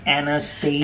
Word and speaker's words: Anastasia: Everyone knows it's pronounced Anastasia.